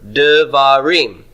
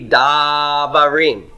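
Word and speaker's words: דברים: When you make it plural, it's not going to be davarim. Okay? We're going to reduce that first syllable because we're adding a syllable at the end and it's taking stress.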